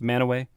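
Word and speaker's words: Mantua: know spelled Mana what spelled Mana pronounced manway I've never even heard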